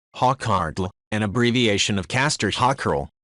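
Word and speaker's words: hákarl: edible sumit 316 said hockerel icelandic pronunciation hawkhartle an abbreviation of castor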